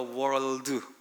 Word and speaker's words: world: God so loved the world, 이거 world 자꾸 해보라고 해가지고 아주 성질 나서 죽을 뻔했어요. 이 RL 요게 겹쳐 나오면 아주 발음이 어려워요.